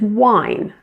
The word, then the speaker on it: win: The pronunciation is wine. So notice the difference, win and wine. That's a short I and a long I.